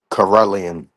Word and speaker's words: Karelian: Again, how do you pronounce that name of the dog, brother Ready? Uh Corellian Corellian or the Corellian bear dog.